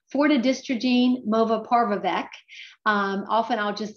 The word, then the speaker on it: fortidystrogene movaparvovec: And it has a new generic name that is a mouthful, but I'm going to do my best to pronounce it. It's fortidystrogene movaparvovec.